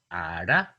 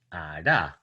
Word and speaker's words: ara: So for example, Bribri has the word ara for child and ara for thunder. So you can see that this final syllable is high tone and this one is falling tone.